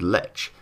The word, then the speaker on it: Lech: So the Lech actually, if I'm being proper, is pronounced Le, I think. I think that's how I'm saying it.